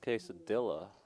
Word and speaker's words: quesadilla: I believe it's pronounced quesadilla, if I'm not mistaken.